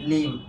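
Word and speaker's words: limb: উচ্চারণ কি ঠুম, এটার উচ্চারণ কি বম, এটার উচ্চারণ কি লিম।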